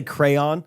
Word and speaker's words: crayon: say caramel yeah caramel I'll say crayon I'll give that the respect it's due I'm not gonna say Crown like some hillbilly but car I will